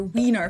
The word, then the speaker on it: Wiener: from the fact that we also have the letter combination of IE in a lot of words, and that one's pronounced as E. You can find this in the word Diesel or Wiener, for example, which is